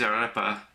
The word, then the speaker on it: arepa: The pulled pork cheese arepa, am I pronouncing that right? Uh it good to me. Yeah. Yeah, I know. You got to roll roll the r's. I can't roll my r's.